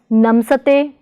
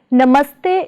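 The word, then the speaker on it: ਨਮਸਤੇ: Should it be pronounced as namsate? Definitely not. Actually, namaste is made up with the combination of namas and suffix te.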